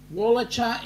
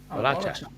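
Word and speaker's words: Wallacia: Wallacha is how you pronounce it. Wallacha. Okay. Wallacha.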